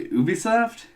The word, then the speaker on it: Ubisoft: developed and published by Ubisoft Ubisoft actually um movie song yeah they way you pronounce it yeah it's you be the two ubiquitous software ah you visa okay